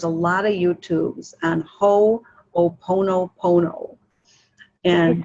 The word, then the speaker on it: Ho'oponopono: There's a lot of YouTubes on Ho'oponopono. Can you spell that, please? Yeah, H-O, and then an apostrophe, O-P, P-O-N-O-P-O-N-O, Ho'oponopono. Kind of just like it sounds.